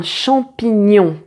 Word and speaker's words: champignon: Tu sais comment le prononcer. Ng. Et donc, là, on va pratiquer quelques mots. Un champignon.